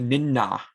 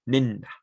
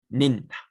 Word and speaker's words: Ninna: a hard don't say Ninna. You kind of don't really use a lot of air. You're almost whispering it. Ninna, Ninna, Ninna.